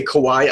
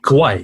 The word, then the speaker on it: Kauai: Probably, though, I would say Kauai I liked more.